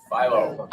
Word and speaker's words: Philo: Philo. Philo, right? Like the dough rhymes with Milo, right?